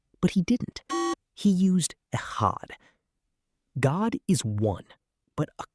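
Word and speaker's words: אחד: The word used for one here is echad, pronounced echad.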